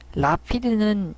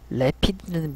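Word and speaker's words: Rapid: 라피드는 영국 발음이고요. 래피드는 미국 발음이더라고요. 라피드, 래피드. 영국 발음이 A 발음을 그대로 발음하기 때문에 그런 느낌이 있는데 옛날에 제가 앙코르를 인코어라고 읽었던 적도 있고 저의 영어 실력도 볼만합니다.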